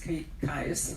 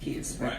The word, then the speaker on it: Kies: And on my left is Thomas Kies. I always want to call it Kies. Rhymes with blue skies.